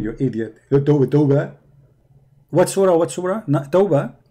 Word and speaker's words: Tawbah: Tawbah.